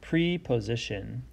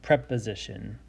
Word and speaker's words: preposition: this next word you might see this and pronounce it preposition looking at the base word in the prefix it's actually pronounced preposition and this is actually a part of speech